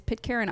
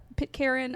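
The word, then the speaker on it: Pitcairn: free uh is Pit Karen Island.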